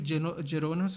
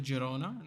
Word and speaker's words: Girona: three years and he's on loan to Girona not gerona dude they loan their